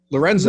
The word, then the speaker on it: Lorenko: Spelled Lorenko, pronounced Lorenzo.